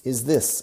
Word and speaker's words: this: De nuevo, fijaos en la pronunciación, porque si lo conseguimos bien ahora, será mucho más fácil más tarde. Is this? This. No decimos is this. This. La lengua sí se ve.